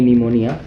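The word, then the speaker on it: pneumonia: ये निमोनिया आप देख सकते हैं कि पी यहाँ पे साइलेंट रहता है, ठीक है।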